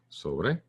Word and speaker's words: sobre: So this word, if I try to say this word, and I'm not going to pronounce the O as in ova, but over. So no in British, ova, but over in a word in Spanish.